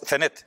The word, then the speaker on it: Zenet: Yo lo pronunciaba mal, Zenit. Yo decía Zenit, es Zenet. Sí. Lo he dicho, cambiando el acento.